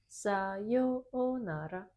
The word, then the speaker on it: sayonara: sayo keep the same high pitch. Sayonara. In your case, na was too low. Uh-huh. Keep the same high Same. pitch. Sayonara. Sayonara. Sayonara. Na should be high.